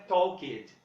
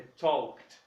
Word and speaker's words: talked: Não é talked, é talked. E agora nós vamos para essa turma aqui. Eu vou pronunciar e vocês me digam se eu pronuncio ou não o E.